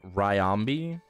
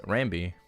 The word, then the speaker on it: Rambi: Because you said like Ryambi. No, I said Rambi. Yeah. It's just like the Y is silent.